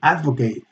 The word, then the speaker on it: advocate: she volunteers as an advocate for blah blah blah they advocate a noun or to advocate and that's when we do the a the diphthong a advocate he advocates a return